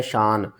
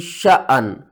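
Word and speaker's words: شأن: आगे देखें, यहाँ पर बहुत से लोग इसको पढ़ते हैं शान। तो सही पढ़ने का तरीका क्या है? सूरत रहमान की आयत नंबर देखें 29 में, हुआ फी शअन।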